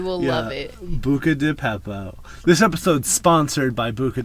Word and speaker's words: Beppo: It's because it's B, and I keep saying Peppo, and it's Beppo.